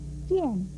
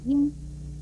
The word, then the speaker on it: 赝: 最后要提出来的是，赝不可以读应，如赝品是不能够念成应品。